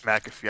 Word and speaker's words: McAfee: to do with you two it's mcafee it's mcafee i finally got to say it right oh